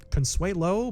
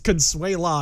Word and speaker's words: Consuelo: she discovers the manipulation actually she's consuelo but uh she's mispronounced as consuela a number of times over the course of this story so whatever uh regardless